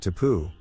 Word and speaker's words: tapu: He pronounced it tapu.